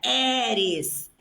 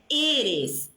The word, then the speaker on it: eres: Olha a pronúncia, não é eres. Eres. E. Fechado. Esse E tem que ser fechado.